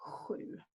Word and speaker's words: sju: We've already talked about the sound being spelled like SJ, like in sju.